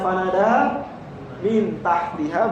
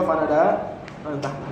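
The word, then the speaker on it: فناداها من تحتها: Jadi bisa dibaca fanadaha min tahtiha, boleh juga fanadaha man tahtaha. Boleh, itu maksudnya bagi pakar qiraat ya.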